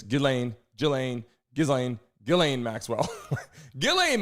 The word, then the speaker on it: Ghislaine: I'm saying Gizlane G. It's Gileain.